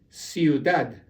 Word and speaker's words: ciudad: Ciudad. You stress the end, ciudad.